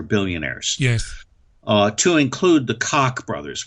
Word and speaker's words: Koch: To include the Koch brothers, which, by the way, that's the correct pronunciation of their name, the Koch brothers.